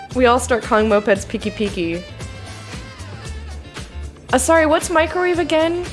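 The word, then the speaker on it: pikipiki: remember was peaky peaky that's spelled p-i-k-i twice peeky-peeky that is that's what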